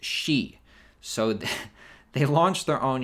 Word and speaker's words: Xi: Now, Xi in Chinese is pronounced Xi.